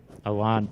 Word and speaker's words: Ajuan: Am I saying Ajuan or is it Ajuan? Ajuan, perfect, thank you.